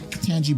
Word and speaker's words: Ketanji: of katanji brown jackson am i saying her name wrong no katanji brown katanji katanji all right anyway he had